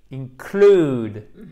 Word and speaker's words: include: OK, donc, this may include. Accent tonique sur la seconde syllabe.